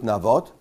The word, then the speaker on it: Navot: In Hebrew, it's Navot. In English, I guess, it's Naboth.